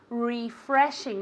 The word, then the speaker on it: refreshing: English very good refreshing refreshing as if it were with an eye at the beginning refreshing repeat very good